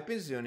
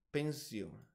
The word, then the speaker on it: pensione: finalmente si pronuncia Attenzione è in italiano quindi con la s che somiglia a una z basta mettere troppo dipendenti